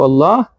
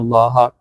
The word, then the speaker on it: Allah: Fatha is connecting to Allah, inna allaha. Ya'lamullahu, mim has a dhamma. So Allah is getting connected by a dhamma. Ya'lamullahu, again it will become a tafkhim, means a heavy pronunciation.